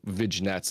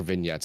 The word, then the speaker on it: vignettes: or, you know, make whatever little um little vigets, little videos and stuff like that. um and or vignettes is the word I pronounce it so weird and uh and